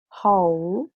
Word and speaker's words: whole: okay, and this is another pronunciation of the same spelling, W and H, and we have who, so whole and whom. We do not pronounce the letter W, okay?